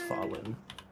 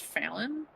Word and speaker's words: Falin: I'm excited to see this fallen. Goodbye. I'm almost done. Actually, it's pronounced Fallon, not Fallen.